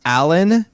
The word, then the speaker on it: Allendon: He said, okay, to solve the mystery, it's pronounced Allen-Din.